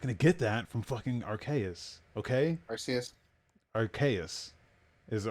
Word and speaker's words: Arceus: It's Arceus. Okay, I've only seen it written, man. I've never seen it pronounced.